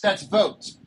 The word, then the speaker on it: Vote: Ron, so, by the way, that's votes. Pronounce it vote. VOTE.